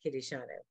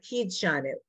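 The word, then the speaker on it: קִדְּשָׁנוּ: So one could ask, how come it's not Kid de Shanu? And I'm saying because you know the word is Kiddi Shanu.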